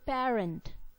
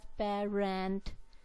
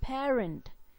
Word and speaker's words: parent: pair rent the stress the stress would be on pair syllable then we have quiet